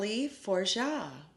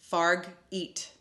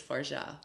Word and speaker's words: Fargeat: pronounce it I mean if I was going to pronounce it by the way it is spelled I would say farg eat but I think it's forja I think it is too